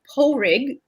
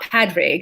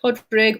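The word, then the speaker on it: Pádraig: now but there are two ways to say his name in irish and one is pulrig depending where you're from and one is podrig um so it's not padraig it's like podrig or pulrig and the guy was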